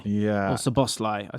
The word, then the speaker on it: Szoboszlai: You've gone for Dominic Szoboszlai. Everyone who knows me knows I love Szoboszlai. Yeah. Or Szoboszlai.